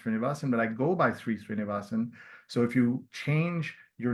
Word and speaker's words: Sree Sreenivasan: So when you click on this, it should pronounce Sree Srinivasan. Sree, like in Sri Lanka.